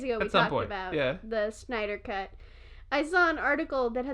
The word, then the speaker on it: Snyder: How do you say his last name? Schneider? Snyder. Snyder.